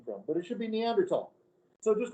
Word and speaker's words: Neanderthal: comment it's uranus it's neanderthal in germany there is no th sound it's not neanderthal and they've discovered the